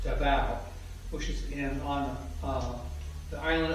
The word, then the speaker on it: Davao: He got his reputation when he was governor of Davao, which we pronounce as Davao in the United States, but actually the correct pronunciation is Davao, which is on the